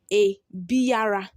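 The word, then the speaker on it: abiara: The second one says a biara, a biara. That's how it is written. But when you are pronouncing it, you pronounce it as a bia, a bia.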